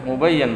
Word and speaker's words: mubayyan: Ya, mubayyan bukan mubayyin lagi.